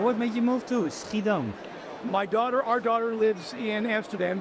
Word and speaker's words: Schiedam: At least that's in you pronounce it right, Schiedam.